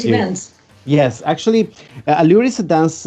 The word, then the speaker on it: Allure: Allure, correct pronunciation. Allure, correct.